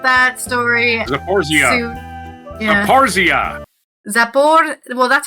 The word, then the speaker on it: Zaporizhzhia: Zaporizhzhia.